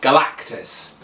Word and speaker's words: Galactus: Okay, if I wanted to go kind of like all out, I would pick either Doctor Strange or Galactus, sorry. I always mispronounce that. Galactus.